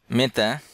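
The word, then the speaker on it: متى: মেতা, মেতা অর্থ কখন, মেতা অর্থ কখন, সাউদি উচ্চারণে মেতা অর্থ কখন।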